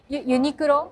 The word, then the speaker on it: Uniqlo: Bags from Uniqlo? Yeah. I got a bag, yeah. Yeah, yeah. How do you say it? Uniqlo?